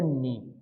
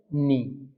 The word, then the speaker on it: knee: So, that portion we will call it as a knee. Okay, what we call it as a knee. K is silent here.